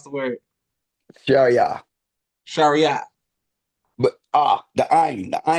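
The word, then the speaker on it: شريعة: But the ayn, but the ayn doesn't exist in English. So Okay. it's a letter, a halki key, a throat letter. So you got if you don't feel it in your throat, you're not saying it right.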